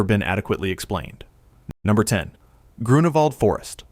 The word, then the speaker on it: Grunewald: Number 10, Grunewald Forest, Berlin, Germany. Pronounced Groo-noo-vald.